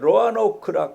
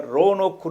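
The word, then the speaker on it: Roanoke: 그 저 미국의 버지니아에 로아노크 하는 뭐 보통 발음할 노크라도 하고 현지 발음으로는 로아노크가 붙어서를 그를 하면 오로 해가 로노크 이렇게 하는데 현지에서는 로아노크라고 이렇게 부르는 거기에서 공무를 했습니다 공부를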